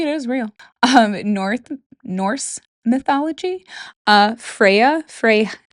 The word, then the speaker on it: Freyja: Norse mythology, Freya, it's spelled Freja, but Freya and Freyja are the same.